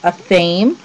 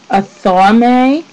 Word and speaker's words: athame: I say a but I have also heard it pronounced a fame, which I think is maybe the other um popular way of saying it. A thame and a fammy.